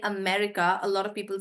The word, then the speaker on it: America: is why be very careful not to say America. It's not America, it's America. America. And because it has the short e sound.